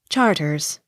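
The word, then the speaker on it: Charteris: h a r t e r i s charters c h o l m e l e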